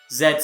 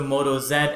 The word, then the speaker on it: Moto Z: or Lenovo X Series is now the Moto Z series and before you say it's pronounced Z it's not and you're wrong Mot aola announced both the Moto Zed and the Moto Zed force and they're the